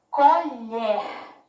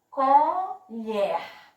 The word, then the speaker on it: colher: Colher. Colher. Qual foi a sílaba que eu falei assim com mais força? Qual? Exatamente. Um pedacinho, lhe. Exato, muito bem.